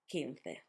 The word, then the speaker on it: quince: Casa, barco, cuna, with the sound K, cerdo, cine, or cerdo, cine, with the sound Th, or S, and queso, quince, with that sound K.